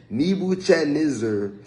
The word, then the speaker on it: Nebuchadnezzar: I ain't gonna hold y'all on pronouncing that, but his name is so hard. It's Nebuchadnezzar, the king of Babylon, has devoured me.